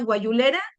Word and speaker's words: Guayulera: Él ha ejercido el pastorado en las congregaciones de la colonia guayulera, así se pronuncia, hermano, en Saltillo, Coahuila.